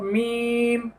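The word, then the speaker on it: ميم: হালকা এই যে দেখেন মিম শেষে আবার দুই ছোট শুকনা অংশে লেগে যাবে কেননা শেষেও মিম রয়েছে মিম তারপরে হরফটি লক্ষ্য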